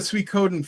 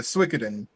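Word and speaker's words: Suikoden: the people who made the sweet coden franchise or the swikidin however you want to pronounce that um which are like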